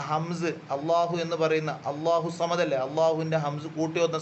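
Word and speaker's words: الله: ലളാം എന്ന സ്വഭാവത്തിലേക്ക് മാറുന്നില്ല ലാം അള്ളാഹു എന്ന് പറയുന്ന സമയത്തും ലില്ലാഹി എന്ന് പറയുന്ന സമയത്ത് ലാമിന് കനമുണ്ട് ലാമിന്റെ കനം മാറുന്നില്ല പക്ഷേ ആകർ എന്ന് വരുന്നതുകൊണ്ട്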